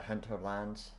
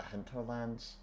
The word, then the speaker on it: Hinterlands: So we're doing a the uh the hunter lands. the Hinterlands. That's how you say it.